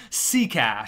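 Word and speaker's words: Sekáč: Apparently some pretty decent prospect or something, but his name is pronounced Seacash.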